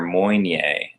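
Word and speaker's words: Moine: do is they demarcate those as being their Moynier, M-O-I-N-E, I think is how that's spelled, Moynier line.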